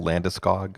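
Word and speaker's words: Landeskog: to talk about the abs ad nauseam hey landiskog you got the pronunciation that went down gabriel landiscog oh i got oh i got a story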